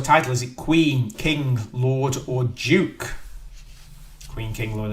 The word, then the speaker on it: Lorde: The artist is called Lord, although I think that's how you pronounce it.